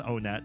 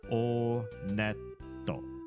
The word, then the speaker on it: Onett: Just kidding, it is pronounced Onett. I did check the Japanese pronunciation. And in Japanese when you go to this first town they pronounce it Onetto.